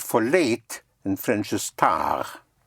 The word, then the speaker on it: tard: Like the word for late in French is tard. Tard, spelled T-A-R-D, like in tardy. But you don't sound the D because it is spelled T-A-R-D without an E.